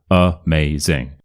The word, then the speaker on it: amazing: uh around around amazing amazing and you'll notice with this word the first a is awah uh but the second a isn't awa it's a so amazing we'll get on to